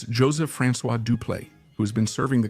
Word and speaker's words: Dupleix: Yes, I know there's a debate about the pronunciation, especially of the X, but usage and arguments